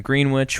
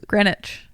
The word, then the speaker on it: Greenwich: and then finally Thor and Jane arrive in Greenwich which is where Greenwich Greenwich oh say it like they do whoops and